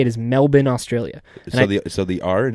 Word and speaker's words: Melbourne: was Melbourne but it's Melbourne I was about Mel born no it's Melbourne Melbourne that's the correct way to say it is Melbourne Australia so the are and everything else is